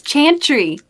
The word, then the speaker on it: Chantry: Yeah, I looked it up. It's Chantry. Chantry. That's how you say it. Yeah, the correct pronunciation is the more annoying sounding pronunciation.